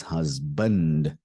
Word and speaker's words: husband: a n d band this is not band it's husband do you understand that husband